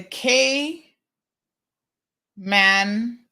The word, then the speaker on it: Cayman: yes it's definitely three the k man Islands Jim is like this is how you pronounce it um Miss Brenda says